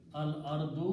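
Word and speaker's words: الأرض: So this will be pronounced al ardu, because two dhammas will become one.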